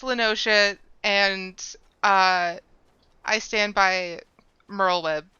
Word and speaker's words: Noscea: Noscea. It isn't, right? Merlwib says it's Noscea, and I stand by Merlwib because, yeah, who wouldn't?